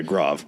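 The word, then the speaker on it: Grave: Um, the 82nd captured a bridge at was it's pronounced Grav. Is that how they pronounce it? Yeah, Grav.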